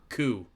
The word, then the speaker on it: Coup: Coup. As in, Coup, it's spelled okay.